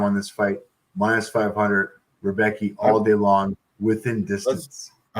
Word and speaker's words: Rebecki: 39 years old, and Rebovic's or whatever, not Rebovic's. How do you say this guy's name? Rebecki.